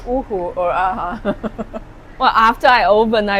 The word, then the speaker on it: Hu-huh: I'm never sure if it's ooh or aha. Well, after I open, I realized my French or Italian customers wouldn't pronounce this properly.